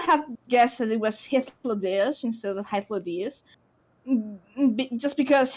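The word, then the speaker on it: Hythlodaeus: I spent like 2 years saying Hythlodeus, and it's Hythlodeus, and I'm really, really, really sorry.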